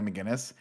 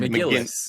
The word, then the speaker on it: McGillis: Tom Cruise and Kelly McGillis. How do you say her last name? Is it McGinnis or McGillis. McGillis, right? McGillicuddy.